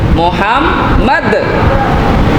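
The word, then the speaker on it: محمد: তাইলে শব্দটা হবে আল্লাহুম্মা সাল্লি আলা সাইয়্যিদিনা মাওলানা মুহাম্মদ। দালটারে কলকলা করতে হবে এবং মুহাম্মদ, এই মিমে মুসাদ্দাদ তাসদীদুল হরফ, এখানে ওয়াজিব গুণ্য করে পড়া লাগবে।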